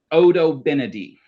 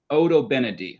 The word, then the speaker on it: Odobenidae: So, the first one is pronounced Odobenidae. So, in your family groups, in your school classrooms, I want you all to say with me Odobenidae.